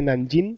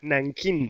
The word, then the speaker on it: Nankín: Digo, mira, no se dice Nanjing, sino Nankín.